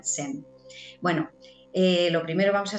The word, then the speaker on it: zen: ella es maestra sem la palabra zen la hemos españolizado y la pronunciamos con z pero en realidad en la entrevista de hoy la vamos a pronunciar con su fonética que sería sem bueno lo primero vamos